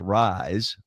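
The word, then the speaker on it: RYZE: and it's amazing and it's called Ry Zee pronounced rise play on words R YZ no I don't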